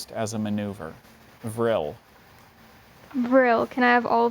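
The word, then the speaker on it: vrille: real real can you repeat the word please vril and this is French right it came from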